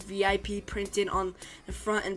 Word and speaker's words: VIP: What's VIP? Ike asks. He pronounces the acronym as a word rhyming with zip.